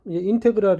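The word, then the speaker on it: integral: 이것을 왜 식에서 이것을 우리가 영어로 인테그랄 이어서 인 태그를 이라고 인 테 크 랏 이라고 읽습니다 영어 인 테 크 라 르 를 영어발음이 줘 그리고 이때 이 애플을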